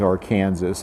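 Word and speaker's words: Arkansas: the riverbed of the ark river and of course since i was reading his piece since calvin would have pronounced the river as our kansas i do as well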